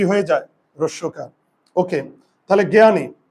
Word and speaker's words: জ্ঞানী: যায় রসকার ওকে তাহলে জ্ঞানী দেখি প্রথমে থাকলে আমার এই যুক্তবর্ণটা এই যে আর আকার তো আগের থেকেই আছে আর উচ্চারণের সময় দীর্ঘ ইকার কি হয়ে যাবে রস ইকার এই যে রস ইকার আর এই ন জ্ঞান বুঝতে কি পারলে